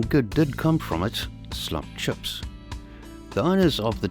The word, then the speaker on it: slap: South Africa's iconic slup chips, spelt S-L-A-P but pronounced S-L-U-P, slup, were not invented by anyone